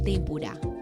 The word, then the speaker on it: tempura: Tempora en latín es esdrújula y tempura en japonés es a un tiempo esdrújula y aguda y debe pronunciarse como tempura, y no como es habitual como palabra grave, con acento fonético en la sílaba intermedia.